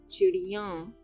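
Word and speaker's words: चिड़ियाँ: Chidiyan is birds. So you convert the ya to ya. You add a nasal sound at the end.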